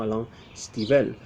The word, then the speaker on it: Alan Stivell: Le voy a llamar Alan Stivell, aunque supongo que en francés se pronunciaría algo así como Alain Stivell.